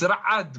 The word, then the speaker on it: Ra'ad: It's Ra'ad, man. You talk to me like my name's Dave and that.